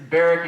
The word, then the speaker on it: Barack: um my name is barrack in case you don't know that it's spelled like barack it's pronounced kind of like derek with a b or just guess if